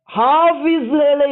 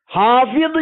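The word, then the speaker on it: حافظ: ஹாபிது என்ற அந்த அரபு வார்த்தை உருது மொழியின் மேலாதிக்கம் காரணமாக ஹாபிஸ் என்ற உச்சரிப்பிலே எமது நாடுகளிலே கூறப்படுகின்றது.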